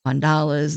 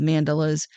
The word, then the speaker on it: mandala: And I said mandelas because everybody pronounces that some way different. Mandalas, mandelas, whatever way you want to pronounce that that's up to you. But I call it mandelas.